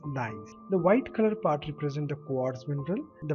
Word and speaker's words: gneiss: Second one, this is gneiss, or the pronunciation is nice.